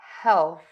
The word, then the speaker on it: health: And for this, it is about that TH sound. Health, health, health. Okay, so that is the TH sound, where you really want to stick the tongue out of the mouth and keep the air moving over the tongue.